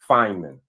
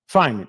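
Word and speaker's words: Feynman: How do you pronounce that? Fineman. Fineman.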